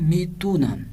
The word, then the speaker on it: میتوانم: تو اس توانم کو بول چال میں کس طرح سے پڑھنا ہے؟ میتونم، ٹھیک ہے؟ تلفظ میشود. لیکن لکھنا جب ہے تو اسی طرح سے لکھنا ہے، میتوانم ہی لکھنا ہے.